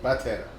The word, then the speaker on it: Batera: Okay, 100% Batera. Batera.